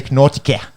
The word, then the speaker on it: Nortje: It's like Andy Nautica. Yeah. There's no kia in like if you looked at it like a fucking Aussie. Oh yeah. Andrew Nortje.